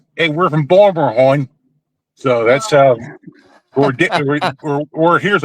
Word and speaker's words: Baltimore: You know that's we don't pronounce our consonants too often.